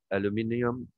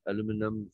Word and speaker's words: aluminium: Is the metal again extraction of aluminium? Okay, simple pronounce aluminum. So American question. British is they usually pronounce aluminium.